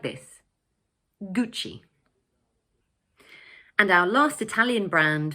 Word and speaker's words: Gucci: In English, we pronounce it Gucci. So the word has 2 syllables and the first one is stressed, like this, Gucci.